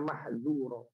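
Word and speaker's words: محذورا: azab Rabbmu itu kana mahdzura, betul-betul harus kita waspadai, pakai zal tipis, zal ya. Mahdzura. Kalau kita keliru mas, ya, kalau kita keliru membacanya dengan tebal, bukan mahzu tapi mahzu pakai dho, maka artinya jauh sekali.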